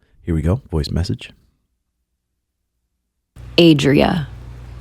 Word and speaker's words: Adria: Adria, not Andrea. Okay, that's how to pronounce my name. Adria, not Andrea. Okay, cool. Cool. There's no N in there.